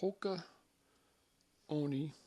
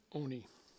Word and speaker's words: Hoka One One: Looks like 1-1, but it's pronounced Oni. So Hoka Oni. Oni.